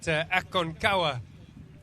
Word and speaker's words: Aconcagua: Okay, so we've got information there that Aconcagua is how you pronounce that grey horse.